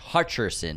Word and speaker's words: Hutcherson: We cleared up Rachel Senate's name pronunciation and then Josh Hutcherson, not Hutchinson.